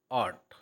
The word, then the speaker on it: ought: ऑट के spelling में जो है यूजीएच साइलेंट रहता है, तो इसलिए आप इसको हिंदी में बोलेंगे ऑट।